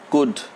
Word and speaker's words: could: But in all these words, the L is silent.